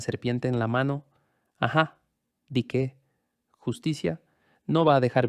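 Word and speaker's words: dike: La palabra griega para justicia es dique, d i k e pronunciado con una e larga.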